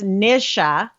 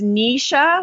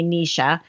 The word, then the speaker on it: Nisha: The name Nisha in Russian, it is a Russian name, and it's pronounced Nisha. Nisha. Yeah, okay. In Russian, it means the morning sun, but the same spelling is also an Indian name, and it's pronounced Nisha, which most people mispronounce my name and say Nisha.